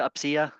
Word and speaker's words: UPCEA: It's spelled UPCEA.